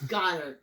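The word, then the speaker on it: Goedert: It's Goddard. I know that. But I like to say Goddard.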